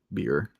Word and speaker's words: bier: atop a black marble bier. B-I-E-R. Oh, okay, I was about to say. Oh, like the beer that you can drink.